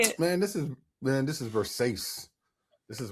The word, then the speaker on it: Versace: man, this is Versace. This is Versace. Versace.